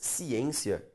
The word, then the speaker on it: ciência: acento gráfico nas palavras ciência e transitório justifica-se com base na mesma regra de acentuação. Vamos separar a palavra ciência. Ciência. A sílaba tônica, perceba, é a penúltima. Logo é uma palavra paroxítona.